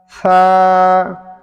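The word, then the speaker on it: ث: সা, সা কিন্তু পাতলা করে বলতে হবে।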